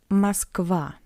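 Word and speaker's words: Москва: A is stressed and O is unstressed. That's why we read it masva.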